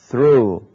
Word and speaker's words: through: Tommy gains status، فهو يجني أو يحصل على المكانة على مكانته through، نلاحظ GH لا تنطق، through من خلال his own